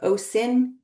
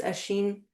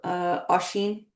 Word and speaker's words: Oisín: It looks like Oisín, but it's Oisín or Oisín.